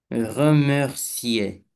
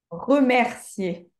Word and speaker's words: remercier: Remercier. Remercier. Ah, ah oui, mince. Pas remercier, remercier.